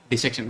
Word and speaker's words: dissection: நீங்க அனாட்டமி முழுமையா வந்து பார்த்தீங்கன்னா கத்துக்கக்கூடிய இடம் எது அப்படின்னா டிசெக்ஷன் ஹால். ஸோ இப்போ நம்ம டிசெக்ஷன் ஹால் என்ன அப்படின்னா என்ன அப்படின்னு சொல்லிட்டு வந்து பார்த்தீங்கன்னா பார்க்கலாம். டிசெக்ஷன் hall R டைசெக்ஷன் hall அப்படின்னு சொல்லிட்டு ப்ரொனவுன்ஸ் பண்ணுவாங்க.